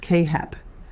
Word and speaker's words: CAAHEP: Your program must be accredited by either CAAHEP, pronounced Kay-Hep, the Commission on Accreditation